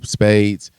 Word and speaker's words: Spaidez: You can YouTube Spaidez, Spaidez. It's, you know, it sounds like the card game, but you spell it like that because it makes it personal and unique to me.